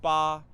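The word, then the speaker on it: 八: locked in eight places number eight in chinese is pronounced ba it's considered the luckiest number because it sounds similar to the way we say good fortune so in a way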